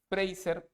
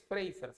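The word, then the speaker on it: Fraser: Entonces por aquí ponen fracer para ya ir terminando fracer es frers así se pronuncia es una mujer filósofa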